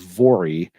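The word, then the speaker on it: Voirrey: They spell it here Volrrey. I think it's pronounced Vori, but some people think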